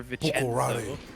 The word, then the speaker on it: Bucciarati: Like a hard C, yeah. For Buccarati.